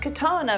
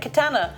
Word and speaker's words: katana: Well, it's pronounced katana, but you said katana.